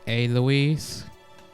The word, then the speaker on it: Alois: Raphael, it's pronounced Aloise.